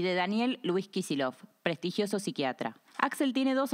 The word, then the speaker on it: Kicillof: lo voy a contar el apellido kisil originalmente se escribe kisil y se pronuncia kisil proviene de kisel una